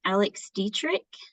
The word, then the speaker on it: Alex Dietrich: So we were actually at a table with Alex Dietrich.